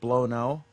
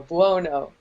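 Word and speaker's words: Buono: tell me you're joking her name is not barbara blonoe no b-u-o-n-o bono oh my god she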